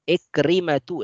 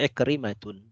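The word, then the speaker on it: عكرمة: Ikrimatu, laisa Ikrimatun, ya, dan seterusnya.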